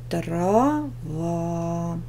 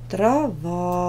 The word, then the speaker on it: трава: пара слов травы тире трава травы ударение на первый слог Проверочное трава ударение на второй слог проверяемая и проверяли мы